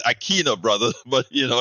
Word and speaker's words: Aquino: my brother Neil Aquino I usually get it wrong I get it wrong so aquina forgive me Aquino you know I I have soy Latinos so in Spanish it's Aquino brother but you know